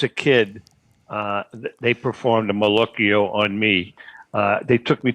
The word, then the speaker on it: malocchio: Malocchio. I've always said Malocchi. Well, that's a abbreviation. You can say it that way.